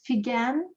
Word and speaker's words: Figen: If you're trying to catch the pronunciation of my name, as I get that question a lot, it's Figen with a hard G, as in the word figure, and that's a great